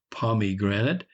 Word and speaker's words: pomegranate: Pomegranate, pronounced invariably pomegranate, is a near enough rhyme to immigrant, in a naturally rhyming country.